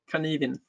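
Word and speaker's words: Cynefin: Varför säger han Kanivin? Det står ju Synefin. Ja, det här är ett keltiskt ord. Och där uttalar man det tydligen på det sättet. Så Kanivin.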